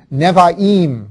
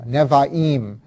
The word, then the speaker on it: Nevi'im: this section, the next section is called the Nevi'im, and that's spelled N-E-B-I-I-M, Nevi'im, and that means prophets.